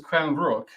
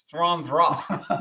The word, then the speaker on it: Stjärnrök: We pronounce this as Stjärnrök, but that's not correct. That was because Google Google said- told us that's what it Google was. said that was correct, but it's Stjärnrök.